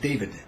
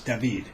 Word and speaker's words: David: city that many of you come thinking it's pronounced David it's David in any event along those roads that pass